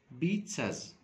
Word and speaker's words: pizzas: Pasta, a selection of pizzas, a selection of pizzas. خلي بالنا ان الزي بتنطق تي اس، اوكي؟ فلما اجي اتكلم اقول هقول pizzas، اوكي؟ زي first Z pronounced T and second Z pronounced S.